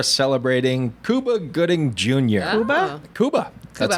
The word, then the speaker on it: Cuba: Cuba. That's how you pronounce his name.